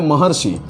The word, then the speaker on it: महर्षि: अभी आया महर्षि तो महर्षि का जो आ है ये आ और ये री बनकर क्या बना महर ये र महर्षि महर्षि।